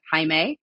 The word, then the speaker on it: Hae: was named High dubar Dean Hae sort of spelled like Jamie but Hae and he referred to